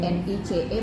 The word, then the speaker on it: Nice: Ya, Nice tulisannya NICE bacanya Nice.